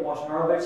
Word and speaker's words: Wojnarowicz: A teacher of mine when I was very young, Catherine Sherwood, worked with, she called him David Wojnarowicz. She used the Polish pronunciation of his name in New York.